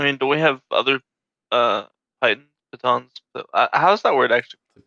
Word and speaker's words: piton: I mean, do we have other pitons?